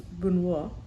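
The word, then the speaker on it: Benoît: perfect we named him benw Michael so benoa means or I guess to say it correctly in French is buono uh we named him bonois because of a dear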